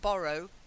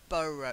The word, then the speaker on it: burrow: Not borrow, burrow. You've got to get an sound.